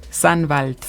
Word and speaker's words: Sannwald: ¿Cómo pronuncia correctamente el Sandwald? Sandwald.